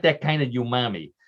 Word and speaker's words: umami: Umami notes of Oscar Mayer's iconic wiener, all topped with a signature swirl of, in quotes, mustard.